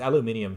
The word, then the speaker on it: aluminium: And aluminium, yeah, it's aluminium because it's spelled the British way.